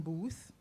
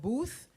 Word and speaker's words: Booth: So he often gets Boot instead of Booth.